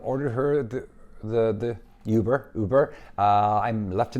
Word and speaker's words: Uber: take get ready for for a Yuber which is how she pronounces it and so I said what she goes no I can go in in a uber order me a uber